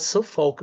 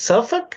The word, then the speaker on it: Suffolk: to to to see the way that is pronounced I I thought it was s FK but it's like a suffk is different the way that is pronounced the name of this city is it's suffk or Suffolk or I would say suff however